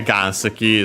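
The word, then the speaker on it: 岩石: Pokemon itself is a Ganski Pokemon. Uh yeah, Gansi is straight up simply uh rock uh as a Chinese compound. We might have seen it before uh accent on the first Ma.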